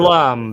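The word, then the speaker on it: Blame!: Blame or Blam? I don't even know how to It's pronounce it. Blum because the Japanese don't know the sound fix for Blum, so they made it Blame.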